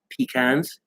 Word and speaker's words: pecan: word blood no no the one above it pecans it's pecan pecans because it's pea ecan time